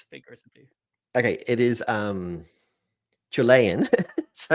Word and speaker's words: Chilean: What exactly is Chilean sea bass? His pronunciation of it. That's the issue. Because you kind of hear... I thought it was chili and sea bass for literally decades.